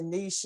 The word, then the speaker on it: niche: market okay i noticed i noticed you said niche and i always thought it was niche so how do you pronounce it i think it could be either one because i've always said